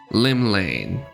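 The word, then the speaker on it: Llymlaen: of the nation's Patron deity Lim l L Lim Lane there we go that's how you pronounce it what realm shaking Fate has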